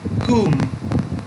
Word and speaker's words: whom: Também vamos para a próxima, que é whom. Whom. Whom. Para poder pronunciar diferente da palavra anterior, vocês precisam fechar seus lábios nessa palavra, porque se você não